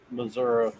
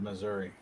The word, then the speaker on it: Missouri: and hills hey dale there's an eye at the end of missouri missouri you know you